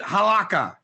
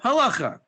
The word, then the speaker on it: halacha: How many of you pronounce it halakha? Because it's written in English, halakha. But it's actually called halacha.